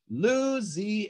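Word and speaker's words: Lou'siana: name is Louisiana but sometimes in folk songs we might shorten the name of something and put this little apostrophe in here so you see it says Lou apostrophe Zana we pronounce that Louisana as a matter of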